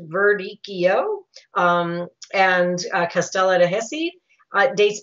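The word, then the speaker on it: Verdicchio: and concentration to happen so radicchio is pronounced Verde Keo and castello de Hesse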